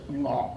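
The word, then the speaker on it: 鵝: Uh um and in Cantonese, it goes ngoh ngoh ngoh.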